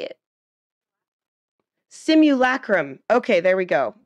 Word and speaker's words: simulacrum: Simulacrum. Okay, there we go. Simulacrum.